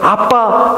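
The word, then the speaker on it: אבא: 바란다 는 원래 의미 원래 그대로 발음하면 아바 라는 말입니다 아마 아랍어와 와봐 아빠의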